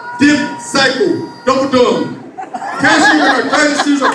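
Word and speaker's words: δίψυχος: In Greek, the word double-minded is pronounced dipsycho, double-dumb.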